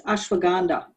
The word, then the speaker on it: ashwagandha: I don't know what ashwagandha, how do you say that, Brandon? Ashwagandha? It's ashwagandha.